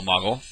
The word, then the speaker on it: Moogle: That is a Moogle, or Moggle. Some people pronounce it differently, but I say Moogle.